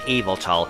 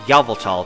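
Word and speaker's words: Yveltal: Pokémon will be yal I know it's actually pronounced evil tall but I'm saying yal because that's how mjtv says it all right route one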